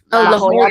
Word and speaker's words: La Jolla: So it's debuting at the sorry, I couldn't quite pronounce it. La Jolla Playhouse. La Jolla Playhouse.